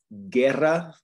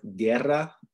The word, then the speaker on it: guerra: it would be kian right uh and then guerra that means war guerra and then gia okay does that make sense